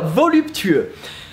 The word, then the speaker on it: voluptueux: So, voluptueux. How to pronounce it is actually quite easy. Just go with voluptuous and try to pronounce every single letter in it.